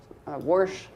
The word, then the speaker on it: wash: interesting then there's this different ways of pronouncing a word like wash worsh some uh intrusive R just means an R that's not really there in the history of the word uh or wish worington